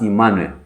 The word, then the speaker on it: Emmanuel: So both of them are pronounced Emanuel.